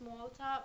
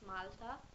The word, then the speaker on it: Malta: Anyway, we the English pronunciation is Malta, but for us it's Malta.